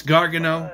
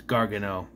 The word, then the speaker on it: Gargano: have a problem with Gargano it's Gargano but if it gives me an edge against Wes Lee I'll do it don't say it wrong it's Gargano all right wasn't expecting